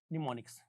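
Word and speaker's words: mnemonics: क्या कहते हैं फ्रेंड्स, निमोनिक्स, एम रहेगा साइलेंट, निमोनिक्स।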